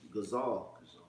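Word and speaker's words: גזל: How you pronounce it in Hebrew is gazal.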